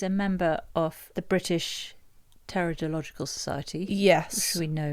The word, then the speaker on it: Pteridological: Or as your granddad always said, silent P as in swimming pool.